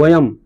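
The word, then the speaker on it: वयम्: वयम होता है।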